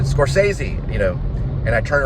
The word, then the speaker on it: Scorsese: it's Taxi Driver by this guy named scorsi or what I couldn't say his name correctly and uh Bobby skz who who I call him Bobby skz Rob Robert bosquez he said Scorsese you know and I